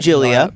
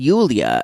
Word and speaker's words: Yulia: anyway uh Brandon and Julia let's talk about them Brandon and Yulia as we found out later is how she's pronounced in in Russian um I'm gonna ask